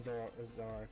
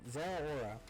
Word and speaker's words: Zeraora: So, if we get killed by the Zoroark, I keep saying Zoroark, or mispronouncing his name. Zeraora, my bad.